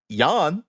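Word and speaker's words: Jan: Eddie and Alex's dad Yan I believe is how you say it he was a Dutch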